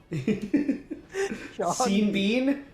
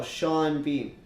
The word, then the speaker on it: Sean Bean: i never thought about that but it is seen bean bean no sean bean sean bond seeing beans saying so much more